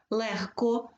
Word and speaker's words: легко: тільки у 5 словах логко вимовляється як легко вимовляється як кігті теж г оглушується нігті